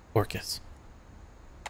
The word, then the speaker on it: Orcas: They pronounced it correctly. Orcas.